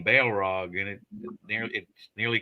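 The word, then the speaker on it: Balrog: time uh and that's that's spelled b a e l r o it's got Bail right in the name Bale Rog and it near it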